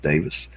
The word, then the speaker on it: Davies: name is stuart davis spelled davies d-a-v-i-e-s but pronounced davis he's an englishman who